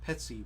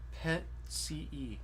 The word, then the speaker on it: Petii: ce so the um because the accent is on the e chant always uh puts the accent in for us uh the accents on the e that makes the t soft and you wanna